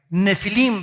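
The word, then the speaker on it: נפילים: Nefilim se pronuncia.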